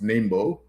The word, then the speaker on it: NIMBO: Uh many people will pronounce it different ways, but it's Nimbo, which stands for the National Independent Movement for Pakai.